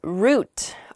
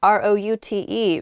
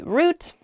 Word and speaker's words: route: in my pasture okay the next word is root r-o-u-t-e root it's how i say it you might also hear the word pronounced route root r-o-u-t-e means the way through